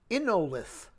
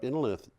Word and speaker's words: Innolith: The Swiss startup Innolith, which is probably actually pronounced Innolit, but I don't know, says it may be Innolit. I don't know how lithium is pronounced in German, and it might not even be German.